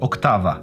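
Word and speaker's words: Oktava: amazing mic octava mk12 yes you should pronounce it octava small condenser mics very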